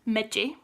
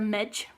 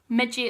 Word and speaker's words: midgie: start it is pronounced miji a lot of English people will pronounce that the midge but that's wrong megi is the way you